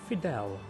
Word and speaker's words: Fydell: right because i have we've always known it as final house these are the last existing titles and they pronounce it fidel if this is the